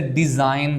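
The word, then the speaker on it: design: है अच्छा अब देखें जैसे डिजाइन है इसमें हमने जी को नहीं पढ़ा इस तरह शैंपेन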